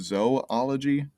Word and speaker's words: zoology: like with like zoology i've heard it pronounced zoology i've all sort of pronounced zou ology as if the two o's are separate so who knows um